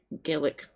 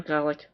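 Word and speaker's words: Gaelic: maybe we should be teaching more Gillic or Gale, depends what part of Scotland you're from and how you pronounce it, by the way.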